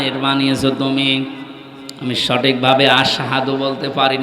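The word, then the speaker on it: أشهد: হযরতে বেলাল, ওনার সোহবা ছোট ছিল, এজন্য আশহাদু না বলে আসহাদু বলে ফেলতো, শুদ্ধভাবে উচ্চারণ হয় না।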